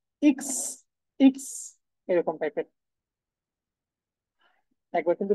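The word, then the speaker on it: Ix: same ওয়েতে দেখেন এখানে এক্স এর যে উচ্চারণ সেটা হচ্ছে কি ইক্স ইক্স এরকম টাইপের একবার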